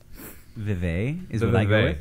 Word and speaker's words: Vive: is it Vive or Reeve? Fact check? Vive. Yeah. So, yeah, the fucking Vive, and that's like, what, $800? It's actually pronounced 6-5-E.